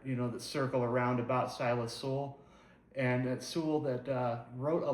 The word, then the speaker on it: Soule: And there are a few different pronunciations you may have heard for his name. Some might call him Soule. I've heard Soule, and that's what we'll be going with today.